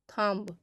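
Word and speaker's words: thumb: पर साइलेंट होता है तो देखिए अगर किसी भी वर्ड में बी एम के बाद आता है तो वहां पर बी साइलेंट हो जाएगा किसी भी वर्ड में देखिएगा तो जहां बी एम के बाद आएगा तो वहां पर बी साइलेंट हो जाएगा तो फॉर एग्जांपल इसमें देखिएगा जैसे बॉम कॉम थम तो यहां पे देखिएगा तो यहां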